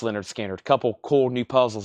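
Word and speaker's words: Lynyrd Skynyrd: And I've got the Leonard Skinner, pronounced Leonard Skinner.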